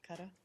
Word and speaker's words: Qatar: stay in the Gulf, but Qatar? Yes. Or Qatar? I wanted As to Americans like to say. As Americans say, I'd like to talk about ask about